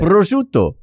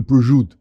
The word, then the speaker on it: prosciutto: Prosciutto. Prosciutto. Yeah, I think you say, okay. Why is the O silent? I think only, they only say in the Sopranos, they go prosciutto.